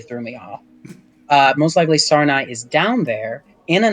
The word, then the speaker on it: Sarnai: Sarnai. There you Yeah. go. There we go. Yeah. I misspelled it this last time, and it really threw me off. Most likely, Sarnai is down there in a nest near a